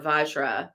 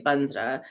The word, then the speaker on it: vajra: got quite a mantra om or vajra but when we're doing Tibetan pronunciation we usually say banra um Zavala Zavala pit